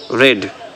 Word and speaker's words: read: उसके बाद वर्ब का सेकंड फॉर्म पढ़ी, पढ़ना वर्ब है, रेड, शी रेड। अच्छा, रीड का जो second form रीड, रेड, letter same होते हैं, प्रोनाउंस बदल जाते हैं।